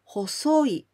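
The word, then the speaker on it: 細い: When you see this kanji with okurigana I, only I, then we pronounce hosoi.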